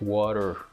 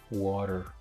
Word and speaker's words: water: example of that word the word water when you speak it fast in North American English it is pronounced water water right so give me another